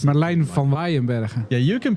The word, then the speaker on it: Merlijn van Waeyenberghe: It's Merlijn van Waeyenberghe. Yeah, you can pronounce it.